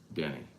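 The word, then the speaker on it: Bryant-Denny: We've been pronouncing Bama Stadium wrong this whole time. You saw the game day story earlier today. Bama's 35-year play-by-play announcer beating cancer. He pronounced it Denny.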